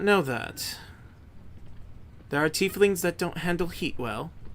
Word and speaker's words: tiefling: Well, given your bloodline, it would seem I've done a little bit of research into tiefling. Is that the way it's pronounced?